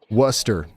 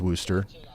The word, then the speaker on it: Worcester: I thought it was Worster. Um, but I mean, because that's literally how it's spelled, right?